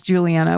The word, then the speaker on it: Juliana: And then in parentheses, it says rhymes with banana. Like I can't pronounce Juliana without that help.